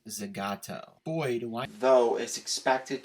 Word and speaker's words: Zagato: dbs gt the ghetto another word that is pronounced seemingly different than it appears it's actually pronounced zagato boyd why though is